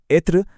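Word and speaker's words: être: उदाहरण के लिए एत्र्र जिसका मतलब है होना। इसे बोलेंगे एत्र और फेथ यानी पार्टी।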